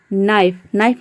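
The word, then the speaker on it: knife: नाइफ मतलब होता है चाकू।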